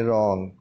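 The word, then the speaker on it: wrong: रॉन्ग, रॉन्ग, रॉन्ग में W silent है तो इसको हम पढ़ेंगे रॉन्ग।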